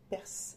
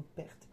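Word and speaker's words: Perth: alors parce qu'une heure pour la prononciation qui s'appelle perce ou perte P e r t h alors figurez-vous que c'est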